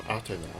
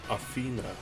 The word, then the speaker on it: Atena: further elaborating on atena I should make note of my pronunciation of her name as the Japanese atena as opposed to the common Athena in Greek the name is closer to Athena making the pronunciation within the series a good middle ground to distinguish when I'm referring to the saintsayer version as opposed to the mythological one the majority of atena's